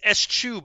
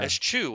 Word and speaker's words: eschew: It's Eschew, by the way. Eschew. All right, yeah. Eschew, which I didn't know that's how you pronounce it.